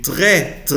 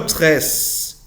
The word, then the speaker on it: très: Oui, j'ai très, no tres. Très, sin la S.